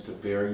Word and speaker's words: Teferi: Teferi, however you pronounce it. Temporal Archmage. Wait a second. His name is Teferi.